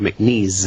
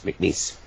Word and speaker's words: McNease: because sometimes people could make knees I said no it's like make it's like lease grease piece McNeese uh so it's Mark